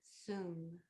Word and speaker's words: sum: S like Sam, U, M, sum.